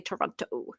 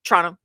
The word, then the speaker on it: Toronto: And you can always tell somebody who's not from Toronto because they'll say Toronto. They pronounce all the letters. And we're like, Toronto. Toronto.